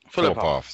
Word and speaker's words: Filipov: Dr. Filipov. Filipov, there you go.